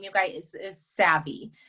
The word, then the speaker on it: Savvi: we um the company name you guys is savvy it's spelled s-a-v-v-i we are a premium athleisure lifestyle